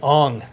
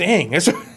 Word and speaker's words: Aang: Ong. Like Ong. Right. I'm like, it's not even like a bad translation. That's what his name is Aang.